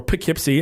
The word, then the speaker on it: Poughkeepsie: in Poughkeepsie New York or put Kip C as you're supposed to pronounce it but I pronounce it po Kip's II cuz that's just how I roll am I too old